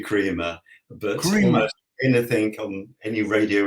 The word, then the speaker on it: Kremer: mine tends to be pronounced all sorts of ways from Crema to crer to Crea um and it's actually Crea but anything on any